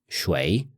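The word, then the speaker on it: 谁: some parts of China this can also be pronounced as shway this sounds similar to the word for water although with a rising tone for simplicity's sake we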